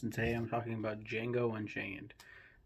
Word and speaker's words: Django: today I'm talking about Django Unchained the D is silent this